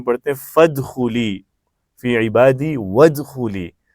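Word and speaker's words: ادخلي: ہیں فادخلی فی عبادی وادخلی. وہاں ہر جگہ ایک جگہ فا گیا، ایک جگہ واو آ گیا تو حمزہ سائلنٹ ہو گیا، لیکن ارجعی میں سائلنٹ نہیں ہوا چونکہ وہ سٹارٹ میں تھا.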